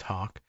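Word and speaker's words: Haake: H A A ke is my best guess. I I I've I've seen that name spelled variously and uh it's as far as I know pronounced Hawk.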